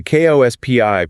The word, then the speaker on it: KOSPI: The KOSPI pronounced Kospi-triggered circuit breakers today.